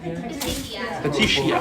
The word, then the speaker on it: petechiae: Petechiae.